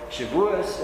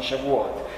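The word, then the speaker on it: Shabbat: Jews don't understand I was explaining things about shabas and they didn't get it it's like well try pronouncing shabat it's it's like there was a big cultural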